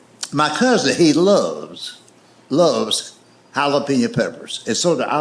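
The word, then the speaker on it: jalapeño: That's jalapeno." And I made the mistake of trying to explain that to him. I said, "I know it's a J, but it's pronounced with a H.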